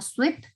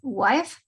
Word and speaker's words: wife: So, Majo, cuando querías pronunciar wife, se escuchó como sweep, que sweep es barrer, ¿sí? Mucho ojo con la pronunciación, sería his wife.